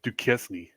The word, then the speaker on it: Duquesne: is spelled Duquesne.